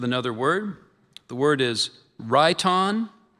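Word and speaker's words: rhyton: The word is raon. It's a noun, an ancient drinking horn, usually with a base formed as the head of an animal, woman, or mythological creature. Ron.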